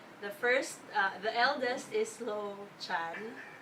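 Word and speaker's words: Lochan: first the eldest is low Chan or low cal but I pronounced the same a slow hand it sounds more familiar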